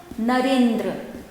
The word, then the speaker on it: नरेंद्र: क्या होता है ए, तो ये जुड़ के क्या बन जाएगा नर, ई जुड़ेगा तो नरे हो जाएगा, ठीक है, नरेंद्र, नर जोड़ इंद्र नरेंद्र, क्योंकि नर में अ है और दूसरे पद में इंद्र है, अ और ई मिलकर ए प्रोनाउंस करता है।